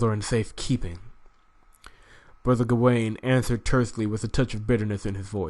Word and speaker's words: Gawain: Do not be discouraged, Brother Gay. I keep pronouncing his name wrong. Hold on, let me back that up. Do not be discouraged, Brother Gawain.